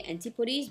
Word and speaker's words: Antipodes: types British I believe British English they say Antipodes but then again does some American English I can say that they pronounce this and he puddings but there some